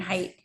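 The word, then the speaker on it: Haidt: name spelled ha AI um DT but it's pronounced height Jonathan height um the anxious Generation Um there were a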